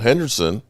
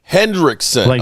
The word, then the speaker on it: Hendrickson: You strengthen numbers because if you've got questions about Henderson, Henderson or how I've been mis mispronouncing Hendrick. Hendrickson.